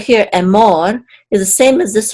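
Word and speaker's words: אֱמֹר: more and more and the accent is on the second syllable because of this um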